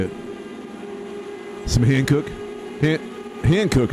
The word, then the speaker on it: Hankook: Hankook is how you say it, right?